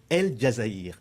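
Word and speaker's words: El Djazaïr: Pascal Fèvre, vous êtes directeur général de BNP Paribas El Jazaïr. Ai-je bien prononcé ?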